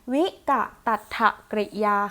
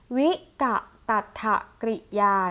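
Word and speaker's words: วิกตัตถกริยา: นะ คะ ก็ คือ ใน เรื่อง ของ วิกัติ อัตถะ กริยา ค่ะ วิกัติ อัตถะ กริยา นะ คะ อัน นี้ คือ คำ อ่าน ของ มัน นะ คะ สึก อ่า น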